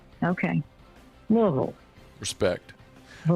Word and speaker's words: Louisville: Coached at Louisville. Mm-hmm. Louisville. Yep. That is the worst name to try to pronounce.